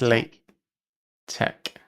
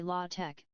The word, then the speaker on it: latex: They're different, but yet latex isn't pronounced with an X. It's not pronounced with an X, is it not? It's late tech.